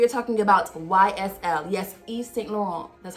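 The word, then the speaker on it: Yves Saint Laurent: brand new we are talking about ysl yes east laurel that's how you pronounce it um in the the original country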